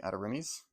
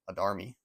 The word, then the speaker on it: Adarimi: And the name, a lot of people in the Warlord community pronounce it Adarmi, but it's Adarimi because it's a mix of his name and his sister's name, apparently.